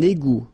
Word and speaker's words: égout: Un égout. Final T not pronounced.